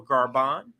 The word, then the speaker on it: Gabon: cool that's happening in garban and that's g-a-b-o-n it's it's pronounced French in a French way so garban is the name of the country let's listen here France